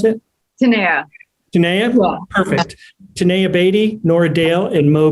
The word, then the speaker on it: Tanaya: to introduce the actors in the room um tanaya is that how you say your name is how you pronounce it perfect tanaya beatty nora dale and moe brings plenty thank